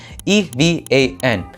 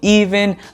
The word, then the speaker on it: Evan: name right here what i have a simple four-letter name e-v-a-n evan no one ever pronounces it correctly whenever i introduce myself to people i get every other name under the sun except evan people call me even ivan kevin heck it it's never correct